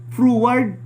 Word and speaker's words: froward: Sa King James froward, mabag forward. Pero ang pagbasa ni froward, lisod kayo, no?